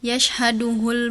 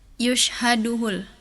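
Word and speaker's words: يَشْهَدُهُ: Seperti di surah al-Muthofifin harusnya tadi yashhaduhul muqorrobun. Tadi husna bacanya yushaduhul.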